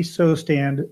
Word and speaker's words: Sosthand: am really tickled today to welcome stuntman buddy so stand to the new American veteran buddy did I